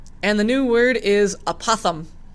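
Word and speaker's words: apothem: And it's spelled A-P-O-T-H-E-M, apothum.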